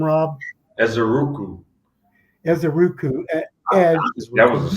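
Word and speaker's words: Ezeiruaku: Donovan, how do you pronounce his last name, Rob? Ezeruku.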